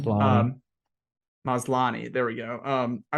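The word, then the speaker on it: Maslany: supposed to be I really did like Tatiana Mosley man I don't I don't know how to say her last name um maslani there we go um I really like her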